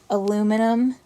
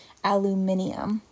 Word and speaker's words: aluminium: classic one is aluminum aluminum is how we say it in the us but in british speaking british english it's pronounced aluminium so that's and not